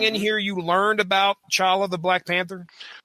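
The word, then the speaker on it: T'Challa: here you learned about chawla the Black Panther I'm noticing that you calling him Charlie the T I believe is silent sir on the movies and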